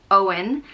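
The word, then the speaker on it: Eoghan: born of the yew tree meaning and it's pronounced o in owen and it can be spelled either e o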